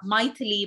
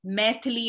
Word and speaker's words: Maithili: Like Bundeli, Magahi, Angika, Maithili, my name is actually a language in India, but it's pronounced Maithili and not Maithili, because it's a North Indian pronunciation, and I'm from South India.